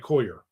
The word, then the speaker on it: Coyer: That's like people mispronouncing Dave Coyer's name. See, I said it right, Coyer.